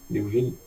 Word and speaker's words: Liouville: Nem sei se é assim se pronuncia. Tá certo isso aí, professor? Liouville? Tá certo. Liouville.